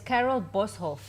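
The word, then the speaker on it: Carel Boshoff: Clint Fontaine yes was Carol bosov is it Carol bof am I saying it correctly right here yes Carol boshof Carol boshof you have to say it like an africano huh boshof Carol boshof a prominent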